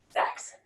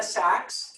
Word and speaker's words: Saxe: I always say Saxe. Saxe. Saxe, okay. Like saxophone. Okay. Saxe, and I've been mispronouncing